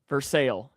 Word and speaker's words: Versailles: Versail. Versailles. You got it. I I love those uh pronunciations and stuff like that.